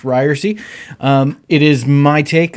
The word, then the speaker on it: Ryerse: new podcast it's pronounced ryersy it's not ryers it's not ryersy it's not reverse as you sometimes get from telemarketers it's pronounced ryersy with a long e on the end uh you might not